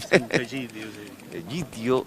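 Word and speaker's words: Sant'Egidio: tipo de de acciones pero la comunidad de San idio vamos a pronunciarlo bien San idio Gio es e es una colaboradora eficaz en el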